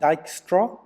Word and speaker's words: Dijkstra: straight into dijkstra's algorithm it's pronounced Dykstra and on the top